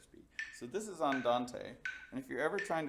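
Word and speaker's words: andante: dance or somebody will you might say and Dan T which is not how it's pronounced it's on Dante which means at a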